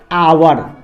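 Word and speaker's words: hour: इसको पढ़ते हैं आवर, तो इसका उच्चारण एच का उच्चारण यहाँ पे अ है, आवर पढ़ते हैं, हावर नहीं पढ़ते हैं, इसको आवर पढ़ते हैं,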